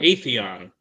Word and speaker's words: Atheon: Atheon is the way that's pronounced.